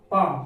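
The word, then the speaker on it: palm: यहाँ पर देखिए एम से पहले यदि एल आता है साइलेंट रहेगा। इसको पढ़ेंगे क्या? काम, वाम, पाम, क्योंकि एल के पहले एम के पहले एल आ रहा है, एम के पहले एल आ रहा है, ये पढ़ा जाएगा। लेकिन अगर इसे हम एल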